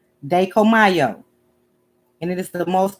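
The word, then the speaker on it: Dai Ko Myo: And it's pronounced Dekomayo. Dekomayo. Dekomayo.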